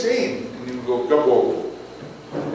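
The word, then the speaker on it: Grabouw: And he would go, Gabon. It's spelled G-R-A-B-O-U-W, Gabon.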